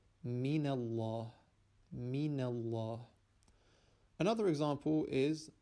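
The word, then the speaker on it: مِنَ اللَّهِ: Again, the origin of the first word is actually min, noon being sakin, but because it is followed by hamzatul wasl, which we do not pronounce, and then a lam which is sakin, that noon, that sakin noon, is gotten rid of by applying a fatha onto it. So it is now pronounced min Allah, min Allah.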